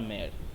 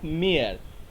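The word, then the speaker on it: Meyer: And exactly একই সাথে আর একজনও কাজ করে, সেটা হলো জার্মান কেমিস্ট লোথার মেয়ার। ঠিক আছে, লোথার মেয়ার এভাবে উচ্চারণ হয়, মেয়ার। ঠিক আছে, মেয়র নয়, মেয়ার, লোথার মেয়ার। তো এই দুজনে এক্স্যাক্টলি সেম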